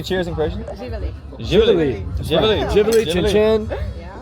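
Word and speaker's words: Živjeli: Živeli.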